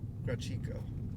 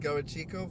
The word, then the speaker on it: Garachico: another way straight okay maybe the first clue of that I was mispronouncing it it's actually got a chico we'll go with gawachico from this moment on in the video now